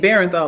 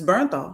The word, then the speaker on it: Bernthal: old when I realized I've been saying his name wrong and it's Bernthal. Cuz I've been saying Bernthal like b e r e n t h a l and it's Bernthal.